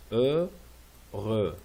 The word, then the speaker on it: heureux: On prononce jamais le H. On prononce ici. Heureux. Et on prononce pas le X.